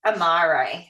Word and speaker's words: Amare: So what we are here for today is Amare, and that's how you say it.